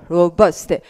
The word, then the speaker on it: robust: 그 다음 이 단어 발음은 robust. 이러면 robust 강세가 앞이네요.